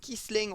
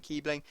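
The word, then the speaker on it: Kießling: It's got Kiesling or Kiebling, as many people go absolutely mad if I pronounce his name Kiebling.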